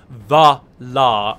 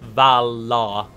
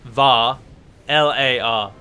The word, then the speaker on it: Valar: sleeve one comment merely telling me that I'm pronouncing Valar wrong because I'm saying bah la and not Val la and platy does my nuttin but it's pronounced as if it is spelt var var lar laughs Varla I hate it just bloody eight